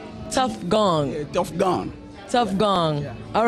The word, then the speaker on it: Tofgone: my name is t gone can can you spell it for everybody t o f j o n e tough gong tough gong tough gong all right so you